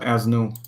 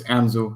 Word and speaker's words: Anzu: I think it is Anzu, not Asnu. Hold on, let me check. Wait, hold on a second. Yeah, it is Anzu. It's not Asnu. It's Anzu. Yeah. There we go.